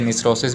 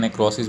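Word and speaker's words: necrosis: Apoptosis and नेक्रोसिस, इसे निस्रोसिस भी पढ़ते हैं, नेक्रोसिस भी पढ़ते हैं, तो प्रोनाउंसिएशन में डिफरेंस है, वो आप देख लें।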